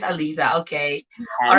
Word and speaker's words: Alyssa: Now, so sorry, your name is pronounced Alisa, not. Alyssa, yeah. It's Alisa.